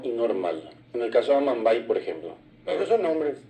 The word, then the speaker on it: Amambay: La misma cosa ocurrió con Amambay, que lo correcto es Amambay. Del lado brasileño inclusive queda Amambay. El acento está al final y es amá lluvia, tiene una M, es nasal.